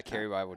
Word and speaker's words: Cary Bible: pronounce it right yeah carry Bible just like the book all right it's a